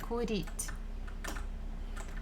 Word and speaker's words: курить: Я курить. So again, where are you? Where are you going? I'm going to smoke. Курить, курить. The stress falls on E.